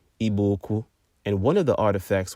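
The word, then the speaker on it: Igbo-Ukwu: artifacts in eastern Nigeria at a site called IBO uku properly pronounced iboku and one of the artifacts was a distinct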